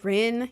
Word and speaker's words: Rin: Uh, but I go by Ren. You can call me whatever though. I really don't care. Um, it's spelled C A M R Y N.